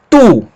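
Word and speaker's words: τοῦ: Mas o ditongo ômicron, Y tem som de U. Então a pronúncia dessa palavra, tu.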